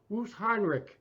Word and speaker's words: Wöstheinrich: guest all the way from Berlin, Germany, Wöstheinrich. How's that? Wöstheinrich. Pronounce it right?